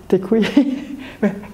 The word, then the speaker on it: děkuji: Yeah, and děkuji. How do you pronounce this properly one time?